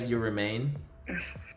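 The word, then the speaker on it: Yurumein: You Remain?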